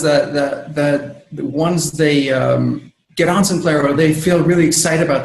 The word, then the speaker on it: Simplero: I was pronouncing it Simplero, and you're like, it's like dinero, Simplero. And I'm like, yeah. I'm like, so can you do your best impression of Robert De Niro? Yes, Simplero. I don't know. Simplero rhymes with dinero.